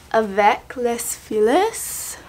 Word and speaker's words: avec les filles: It's avec les filles, that's how you say it.